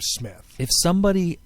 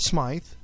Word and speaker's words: Smith: but and I mean we pronounce our name Smith. If you cover up the S, it's Myth. You put an S on it, Smith. Right. People will like to call it Smythe.